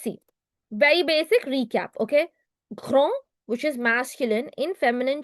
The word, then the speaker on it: grand: Grand, which is masculine, in feminine changes to grande. The same word in pluriel changes to grand. No pronunciation change.